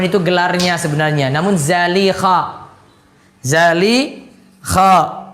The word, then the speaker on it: Zalikha: Zalikha bukan Zulaikha. Zalikha di sini kalau cara bacanya.